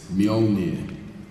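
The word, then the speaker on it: Mjölnir: Well, I've been told, this is in much discussions, it's Mjolnir.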